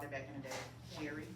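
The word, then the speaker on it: Jheri: back in the day Jerry like the name Jerry and it's probably spelled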